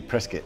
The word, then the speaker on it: Prescott: In Prescott, we say Prescott. Like, rhymes with biscuit. So you say it like that. Prescott.